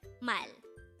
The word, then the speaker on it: 말: forget our word for today word number 237 mal which is the korean word for word or